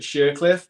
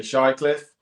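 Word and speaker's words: Shirecliffe: mom's from now again she pronounces it shercliff but people say shy Cliffe uh my dad's from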